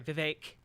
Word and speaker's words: Vivek: like so uh sorry Vivek rhymes with cake see ya on the